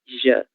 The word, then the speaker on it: já: La J era Jota, ¿no? Con Y. Já. É um pouco mais suave. Já.